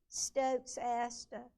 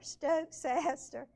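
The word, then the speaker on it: Stokesia: This is one has a lot of different pronunciations. Stokes Asta, Stokes Asta, or Stokes Aster. They're all different. But some of us call it Stokesesia.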